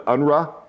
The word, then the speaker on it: UNRWA: Head of safety and security for the UNRWA which is the ENRA I believe is how it's said.